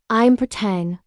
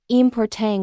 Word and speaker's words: important: Most English learners pronounce it as important with stress on the last syllable, but natives say important with the stress in the middle.